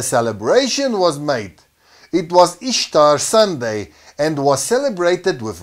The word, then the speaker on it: Ishtar: Semiramis became known as Ishtar, which is pronounced Easter, referred to as Astaroth in the scriptures, and their moon eggs became known as Ishtar egg.